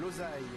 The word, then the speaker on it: Losail: On découvre ce circuit de Losail. Alors il paraît qu'on dit le Losail si on veut bien prononcer.